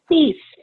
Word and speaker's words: Cease: Cease. Just Cease. kind of pretty much like it looks.